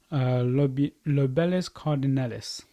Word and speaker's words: Lobelia cardinalis: So just here, just there, I've got a plant called Lobelis cardinalis. I think that's how you say it. Anyway, let me just double check. Yeah, it's Lobelia cardinalis.